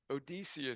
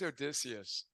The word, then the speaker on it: Odius: you know right I I recorded the audio book right 19 hours and Odus is what I said but no it's odius awesome never knew that